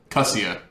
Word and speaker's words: Kussia: It's Kussia. Kussia. Kuhseeuh. Kussia.